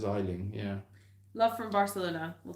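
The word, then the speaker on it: Aisling: to pronounce that name oh that's an easy one it's isling sibel islands just meant it's irish isn't it i would say it's i i would pronounce that as isling yeah love from barcelona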